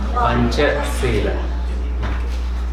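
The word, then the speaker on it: Pañcasīla: Is it Pancha Sila or Pancha Sila? Pancha Sila. So, no macron, it's just like a veil. Can you still see this color? Yeah. Panchasila.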